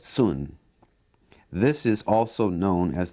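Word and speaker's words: cun: Now, Westerners spell it C-U-N and sometimes refer to it as kun. Okay, but sun.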